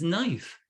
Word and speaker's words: knife: like knowledge no uh the k when it's with the n the k is always silent it's not i could know a knife no it's knife okay that's silent consonants